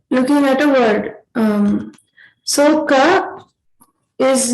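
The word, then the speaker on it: क: So to observe, Ka is a alpa prana, which means that you use less force to pronounce it.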